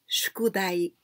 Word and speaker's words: 宿題: So we pronounce shukudai, shukudai.